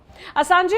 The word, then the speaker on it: असांज: अब असांजे का परिचय भी जान लेते हैं संक्षेप में। जूलियन असांज भी कुछ लोग प्रोनाउंस करते हैं इनका नाम।